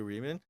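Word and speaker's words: Reimer: O David Rimer. E é isso que você pronuncia mesmo? David Rimer? Heimer.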